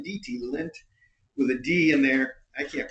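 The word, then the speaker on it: Lindt: belly button lint no l i n DT lint with a D in there I can't pronounce that I tried though so they have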